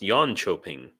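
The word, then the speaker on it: Jönköping: like you and also the K is often a CH sound so like uh I lived in in the city of yan choping and Yono ping is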